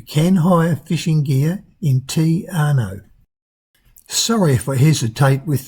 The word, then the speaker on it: Te Anau: I've got to be careful how I say that, it's very hard to pronounce. Te Anau, I think is the correct way, to Milford Sound, which is nothing short of dramatic.